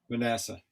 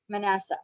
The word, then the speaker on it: Manasseh: How does she pronounce it, Brad? Manasseh. Manasseh.